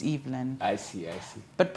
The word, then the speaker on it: Evelyn: so my name is it's a French name so it's pronounced EVN I believe evalene would be e v e l i n e mine is l y n so it's evand I see I see